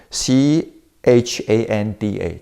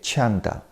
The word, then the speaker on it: chanda: the original word of desire in Sanskrit it pronounced gender c h a n d a Chanda Chanda means you have a kind of a